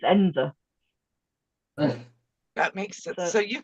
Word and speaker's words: Edensor: I mean, the village that belongs to the Chatsworth estate is called Ensor, but it's written Edensor. So people call it Edensor, but all the locals it's Ensor.